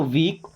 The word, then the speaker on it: week: WEEK, डब्ल्यू से बनता है व, डबल ई से ई की मात्रा और के से का, तो वीक।